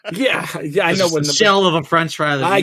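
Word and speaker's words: 四: you count in Japan the number four for example pronounced she can also mean death this is why you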